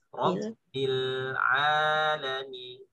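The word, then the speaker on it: رب العالمين: Kalau talaki lebih itu lagi, ro memang tebal. Ya. Sifatnya isti'ala. Rob ketemu di tipis. Robbil alamin. Du tipis. Du alhamdu. Du tipis. Ro tebal. Robbil alamin.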